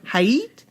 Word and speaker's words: Height: Or Height. Height. Like kite. Height.